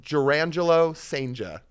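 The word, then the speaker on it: Jurrangelo Cijntje: You want me to pronounce it for everybody? Yes. Okay. It is Jurangelo Senja.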